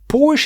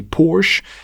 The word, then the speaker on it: Porsche: we get started uh Porsche some people say you should be pronouncing it the original German Way por H to mind por Gaz in and they're very strict about this now I personally believe it's more important that we understand each other rather than how somebody pronounces something and although I'm not American it's easier for me to say Porsche and it's my video so I'm going to be saying it Porsche for the rest of